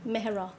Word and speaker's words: Mehra: Mehra.